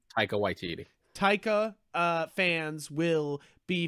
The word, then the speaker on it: Taika Waititi: takita sorry how do you say his name taika waititi taika uh fans will be very pleased because